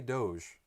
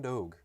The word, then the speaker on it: Doge: Some may say Doge. I'm going Doge. That's a hard G for me.